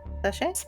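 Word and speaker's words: sachet: Sache. Sache. Sache. Yeah, apparently is how that's pronounced.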